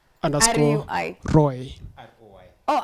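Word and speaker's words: ROI: Kuna tafuta tu at pronounced underscore R-U-I. Roy.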